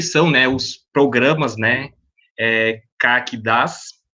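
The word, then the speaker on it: CAQDAS: E aí nós temos aqui essa agenda, início de conversa, o que são, né, os programas, né, CAC-DAS, a pronúncia é assim mesmo, e vamos ver o que significa essa sigla, né.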